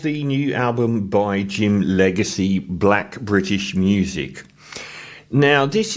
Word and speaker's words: Legxacy: James Foro Runo Ifani Ala Oi aka Jim Legacy spelled rather nicely with an X as in L E G X A C Y from Lewim in London